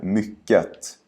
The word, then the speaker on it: mycket: Tänk på att vi brukar ta bort just T i slutet i alla typer av sammanhang med ordet mycket.